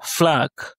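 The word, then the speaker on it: флаг: Ensuite, on a la lettre F comme dans le mot flac. flag qui signifie drapeau avec un accent tonique comme sur le A.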